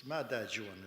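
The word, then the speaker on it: Matachewan: I come from my home community is in Matachuan. It's the furthest it's Madachuan is the way it's pronounced in our language and and the little town that we live in is called Squading.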